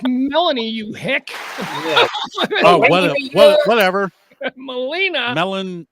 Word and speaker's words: Melanie: Molina Collins. CBS. I believe it's pronounced Melanie, you hick.